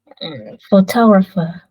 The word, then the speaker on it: photographer: Where's the stress now? Photographer. Photographer. Yeah.